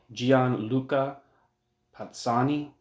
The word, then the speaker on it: Gianluca Pozzoni: It's by a Gianluca Pozzoni. I'm assuming that's how you pronounce the name.